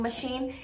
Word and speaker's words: machine: you think about it the word washing machine it's two sh sounds but it is spelled with a ch and so um that's